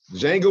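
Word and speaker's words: Django: Escalante all right uh Jango one chained in the house and the D is silent what's going on man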